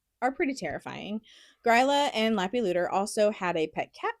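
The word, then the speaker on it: Leppalúði: and it's pronounced Lappy Looter.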